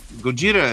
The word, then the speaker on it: Gojira: the same creature yeah Gojira is the Japanese pronunciation of it Godzilla is the best they can make out of it foreign monsters that